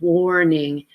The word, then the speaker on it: warning: the O our sound warning and that's why I have it on this page for you so when you're reading make sure you pronounce it more with the or vowel sound all right